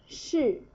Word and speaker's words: 室: Alright, last one, 室, 室, fourth tone.